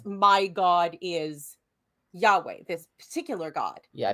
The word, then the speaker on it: Yahweh: one of the reasons why we think it's Yahweh and not yahovah yeah right um yeah so would have gone